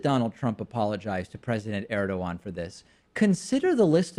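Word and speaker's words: Erdoğan: Maybe Trump should be apologizing to Erdogan for not knowing how to pronounce his name. That would be nice. It's Erdogan.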